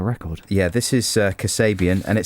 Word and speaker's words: Kasabian: let's have a record yeah this is uh Kasabian and it says helpfully here on the playlist pronounced Cur say B and curse abian and uh it's the fourth single from the